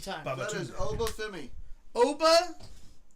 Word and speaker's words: Obafemi: Obafemi. Obafumi. Femi. Femi. F-E-M-I. Yes. Obafemi.